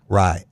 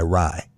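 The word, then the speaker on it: Rai: So it's pronounced Rye, not Ray? Rye. Okay. R-A-I, Rye. Like rye bread.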